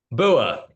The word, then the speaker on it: Bua: S how do you say your last name bua hey all right I got it right well